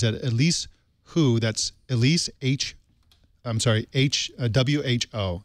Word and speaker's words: Hu: That's Elise W-H-O. So Who as in who done it, even though her last name is spelled H-U.